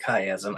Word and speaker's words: chiasm: Oh, chiasm. Okay, yeah. Okay, a K sound.